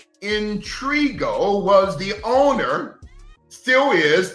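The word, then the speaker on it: Intriago: name of Antonio intrigua Intrigue allow me to pronounce that capital i n t r i a g o intrigo was the owner still is the proxy owner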